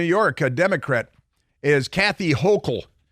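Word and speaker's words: Hochul: governor of New York a Democrat is Kathy hokel it's pronounced hokel and um she's sending the National Guard to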